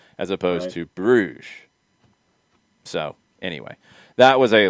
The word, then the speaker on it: Bruges: So I have always heard Club Bruges described, this Belgian club, as the French pronunciation, Bruges.